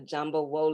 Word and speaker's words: Efunbolade: amen how do you say your name isn't jumbo lay the jumbo wole that's beautiful i wanted to say it right